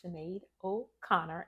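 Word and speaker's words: Sinéad O'Connor: Ado let me tell you what it is Cheno Conor Chen spell s i there is no h but it's pronounced chenade o Conor and she will correct you on it I'll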